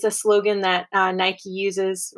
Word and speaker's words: Nike: All right, I guess some of you probably pronounce this Nike, but since it's an American company, I'm going to pronounce it Nike because that's how we say it at home.